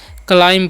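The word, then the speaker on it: climb: एल आई एम बी तो इसे क्लाइम नहीं पढ़ना है क्या पढ़ना है क्लाइम पढ़ना है क्या पढ़ना है क्लाइम यहां पर भी जो है साइलेंट होता है यानी कि उसका उच्चारण नहीं होता है क्लाइम मतलब क्या होता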